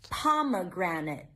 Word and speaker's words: pomegranate: Pomegranate. Oh, pomegranate on the first syllable.